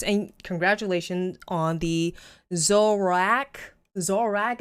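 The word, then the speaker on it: Zoroark: congratulations on the zorak zorrack is how you say it i always call it zorak and everybody grills me on it no pokemon pokemon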